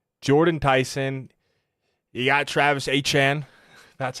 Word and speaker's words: Etienne: You got Travis Etienne. That's how it's pronounced now.